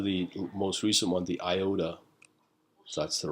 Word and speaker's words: IOTA: And we'll get into the most recent one, the IOTA. So that's the right way to pronounce it.